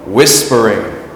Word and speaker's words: whispering: But if the stress is on the beginning of the word, like whisper, then we just add ing. So, whispering.